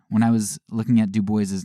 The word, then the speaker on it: Du Bois: lot, and it says that Du Bois actually pronounced his own name Du Bois.